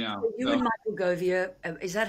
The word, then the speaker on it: Govier: So you and Michael Govier, is that how I say his name? Govier.